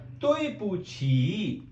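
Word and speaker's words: 对不起: Then we have a word तोय पूछी। तोय पूछी इट्स a little bit difficult, so आई am going to right the pronunciation.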